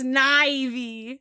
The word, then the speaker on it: Snivy: Nope, it's Snivy. Ew. It doesn't. If it was pronounced Snivy.